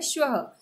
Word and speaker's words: श्वः: उसके आगे लिखा हुआ है श्वः, उसका उच्चारण होता है श्वः।